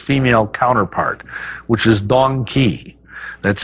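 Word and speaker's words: dong quai: I can't forget its female counterpart which is dong Kei that's spelled D o n g qu Ai and Dong key is a great herb for any female of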